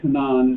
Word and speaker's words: Canaan: a woman of Canaan, or actually they say Canaan is how you say that, a woman of Canaan